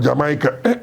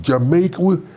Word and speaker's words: Jamaica: I come from Jamaica. It's Jamaica.